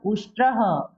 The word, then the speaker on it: उष्ट्रः: फिर विसर्ग आया, हमने ह बोला उष्ट्रः।